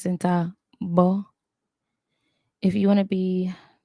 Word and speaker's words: centavo: Centavo. Centavo. Remember the V, or what we identify as the V in Spanish, actually makes kind of a B sound.